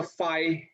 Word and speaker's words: phi: ठीक है, उसको ऐसा phi इसका pronunciation है.